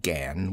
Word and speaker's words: gan: She pronounced it gan with only a suspicion of a nasal sound.